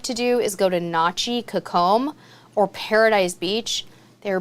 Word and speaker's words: Nachi: Personally, I like Nachi a little bit better, and that is spelled N-A-C-H-I, Nachi.